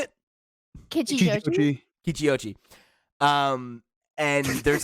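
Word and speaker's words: Kichijōji: Kichiyoshi.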